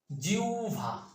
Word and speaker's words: জিহ্বা: হবে আমরা কমেন্টে জানাবো আর এর উচ্চারণ কি হবে জিউভা তাহলে জিহ্বা বা জিহ্বা বলবো না কি বলবো